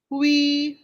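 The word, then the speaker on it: 灰: Hui. Se. Remember that UI is way.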